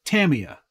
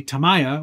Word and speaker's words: Tamiya: I usually pronounce it Tamiya. Some people say Tamaya, which is all wrong.